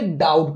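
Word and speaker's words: doubt: यहाँ देखिए बी के बाद टी आ रहा है, तो यहाँ पर हम क्या करेंगे, हम बी को नहीं पढ़ेंगे, डाउट पढ़ेंगे।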